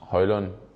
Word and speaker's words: Højlund: on could you just give us the correct pronunciation of your name so they can do that uh yes my name is Rasmus hoyland I hope you got it right now yeah